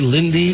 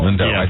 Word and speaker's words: Lindo: Lindo I always get is it Del Roy Lindy or deloy Del Roy Lindo Lindo think you had right anyway he's been in